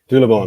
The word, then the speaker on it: Doherty: Because one of the first brands that you produced, and I have it here, is, and my pronunciation is terrible, Doherty. Doherty, that's right.